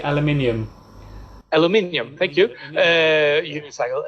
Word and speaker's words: aluminium: It's the aluminum. How do you say that? In England we say aluminium.